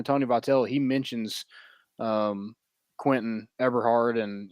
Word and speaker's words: Eberhardt: Eberhardt.